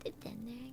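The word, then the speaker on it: デデンネ: あ、こんばんは。いらっしゃい。そういえばお名前韓国語だから読めないんだけど、お名前どうやって読めばいいんですか？ちょっと Google 翻訳で調べてみますわ。この韓国語なんて読めばいいのか。よいしょ。これはででんね。あー、はい。ででんねさん。はい。ででんねさんいらっしゃい。あ、そっか。ポケモンか。はい。ででんね。そっか。ででんねって言うんだ、このポケモン。そっか。私、英語しかわかんなかったから。そうなんだ。ででんね。はい。ででんねさんいらっしゃい。今日は ASMR 雑談やってます。今日は音楽とともに焚き火の音も楽しめますよ。ライチュウじゃないよね。It's not ライチュウ it's ででんね。Wait, what's ででんね again?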